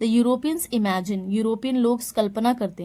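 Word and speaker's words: Europe: The people of यूरोप learn their lessons, यूरोप में ई silent होगा, यूरोप।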